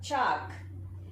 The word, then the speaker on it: chalk: Next, 19th word, chalk. In chalk, L is silent.